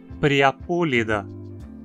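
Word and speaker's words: Priapulida: O radical ida sempre tem i curto. Então a penúltima sílaba não tem requisitos para ser longa e precisamos falar anélida. Da mesma forma, então, dizemos priapúlida, gnatostomúlida, forônida.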